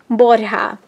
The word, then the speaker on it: Borja: is Pretties by Yorlis Borja, and the J is pronounced as an H in Spanish, so it's Pretties by Yorlis Borja.